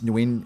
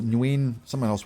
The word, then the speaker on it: Nguyen: Now, now I think it's Newin. It's win or nuin. I've heard it's pronounced win just w i n.